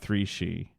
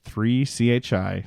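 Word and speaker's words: 3Chi: talk to you about three she that's right three chi that's that's how they spell it but it's pronounced three she it rhymes it's the industry leader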